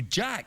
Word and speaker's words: Jacques: But um you you it says Jack, but everybody calls you Jack, but it's spelled Jacques.